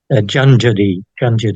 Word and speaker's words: Junjadi: Probably both of those pronunciations are all right. Junjadi is the one that seems to be most common, but there are dozens of different names, Aboriginal names for these creatures.